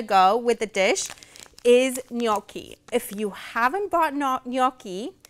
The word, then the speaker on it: gnocchi: thing that's gonna go with the dish is gnocchi if you haven't bought gnocchi it's spelled g-n-o-c-c-h-i they're an Italian um they're an